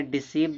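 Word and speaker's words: deceive: जब किसी वर्ड में इ आई आए तो इ आई का उच्चारण बड़ी ई होता है।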